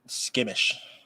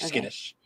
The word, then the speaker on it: skittish: eventually try to be less skimmish. Like skittish. That's like the right way to say.